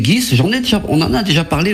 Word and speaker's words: Ghys: Le secret de Guy de Ponthieu, par une certaine Céline Guis. Je ne sais pas si je prononce bien son nom de famille. C'est exactement ça, c'est Céline Guis.